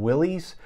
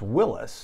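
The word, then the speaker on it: Willys: and so a lot of people call him willie's uh actually that's the wrong pronunciation uh jeep original designer was willis uh mr willis and so the original jeeps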